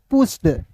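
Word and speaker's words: push: अब देखिए बहुत सारे दोस्त ऐसे हैं सर कहेंगे पी यू एस एच को सर इसे आप पस क्यों नहीं पढ़ रहे हैं सर?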